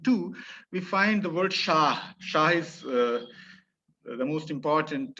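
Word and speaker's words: شاه: is why we it is it is uh pronounced as shah and not shahar as in urdu we call it sahar yeah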